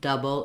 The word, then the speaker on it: double: I've capitalized this because my du of double is long and then my bull again there's our B and cabic L so the bull stays the same in able doable and double it's always unstressed doesn't have much vowl